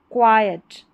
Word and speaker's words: quiet: Lived in अ क्वाइट, इसको पढ़ा जाएगा क्वाइट। यहाँ पर क्यू और यू जो है इसको क्व पढ़ते हैं, क्वाइट बन गया।